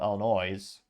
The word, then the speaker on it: Illinois: that rolls off the production line in Normal Illinois or if you grew up in Illinois if you're from the Midwest you know it's actually pronounce Illinois but yeah if I was an